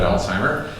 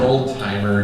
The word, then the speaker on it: Alzheimer: German Anatomy Professor alwa probably not pronouncing his name correctly but Alzheimer um and it's not old it's not Oldtimer disease okay um and then